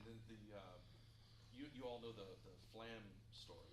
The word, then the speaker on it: flam: kid, and I said, Flam, it's like two syllables, but it's one. Just say it, Flam. And he said, Falagon.